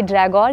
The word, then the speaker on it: Dragør: यह Dragor या "Dra ouaa" है जिसका उच्चारण डेनिश में होता है।